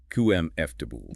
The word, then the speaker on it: comfortable: Comfortable is another victim of salabic compression, much like temperature. While it's written as four syllables, it is almost universally reduced in fast British speech to three. Kum fool.